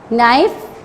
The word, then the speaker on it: knife: Yes, there are 4 words which start from the K, but it doesn't give the sound of K. No, knife, kneel, knit.